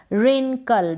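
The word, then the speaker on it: wrinkle: एन ऋण और केले रिंकल डब्लू आर आई एन ऋण और केले रिंकल तो यहां पर व क्या है साइलेंट है कौन सी स्पेलिंग में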